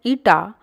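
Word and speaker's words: η: The coefficient of viscosity, pronounced as eta, can be measured or defined as the ratio of shearing stress to the strain rate.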